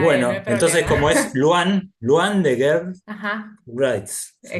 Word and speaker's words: L'wan: una L minúscula y se Ah, es una pronuncia L. Luan. Ah, Luam.